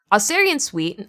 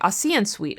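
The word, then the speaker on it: Ossian Sweet: black side of town aerian site I'm sorry aan site I believe is how you pronounce his name didn't want to live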